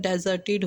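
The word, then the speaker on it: deserted: डेजर्टेड डेजर्टेड guys इसमें are silent होता है डेजर्टेड होता है यह यह डेजर्टेड नहीं होता आर नहीं होता इसमें तो यह डेजर्टेड होता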